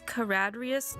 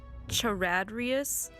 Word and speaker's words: Karadrius: It's Karadrius, not Charadrius.